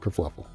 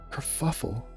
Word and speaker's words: kerfuffle: And the whole thing's turned into a massive kerfluffle. A kerfluffle, it's a strange word. I can't... A kerfluffle. Kerfuffle.